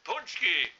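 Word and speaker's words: pączki: word punch key let's spell it now p a c z k i punch key now how the hell you get punch key on a p a c zki that should be pesky or ponsky now we're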